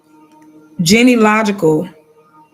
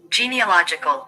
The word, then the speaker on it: genealogical: Genealological. Okay, that's how I pronounce the word. Literally, that's how you pronounce it. But it sounds weird cuz I never said that word. Genealogical.